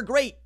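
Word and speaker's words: Grier: so quarterbacks that were great actually quarterbacks were the thing that was great about this conference last year Kyler Murray will GRE hard G Brock pie you can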